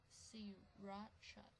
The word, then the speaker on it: Sriracha: Farm Foods to immediately halt production of Sriracha, pronounced Sriracha, as its chili factory while review of the sauce continues.